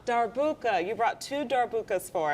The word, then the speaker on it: darbuka: is it dark how do you say it darbuka darbuka you brought Tudor bukas for us yes I